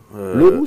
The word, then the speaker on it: Le Roux: Leroux, c'est breton. Ah oui, oui, parce que ça s'écrit en deux mots. En un seul mot, c'est français. Ah oui. Et en deux mots, c'est breton.